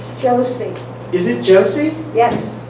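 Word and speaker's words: Joose: by barbara m heaven only knows how you pronounce her last name josie is it josie yes it's j-o-o-s-e yeah okay um and what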